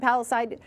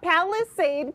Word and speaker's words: Palisade: right now so why not cook up some paliside I keep mispronouncing it Palisade Peach muffins Chef David bchuk from scratch catering